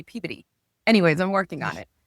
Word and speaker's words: Peabody: So they don't say Peabody, they say Peabody.